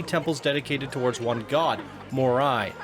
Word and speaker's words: Morai: dedicated towards one god more eye pronounced more i the god i guess i got it right the god of fire